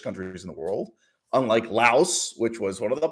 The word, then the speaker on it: Lao: But their officially styled name is just Lao. They just want to keep it down to one syllable, no S.